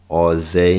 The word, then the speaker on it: AUZAYE: call me um all zay is how you say the name you know that's my